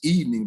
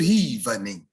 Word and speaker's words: evening: overdo it she'll she the word is evening but she'll get up and say good evening it's not even is